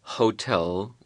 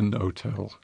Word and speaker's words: hotel: pronounce the h there it's written but not pronounced on the other hand there will be a hotel which everybody basically would say a hotel wouldn't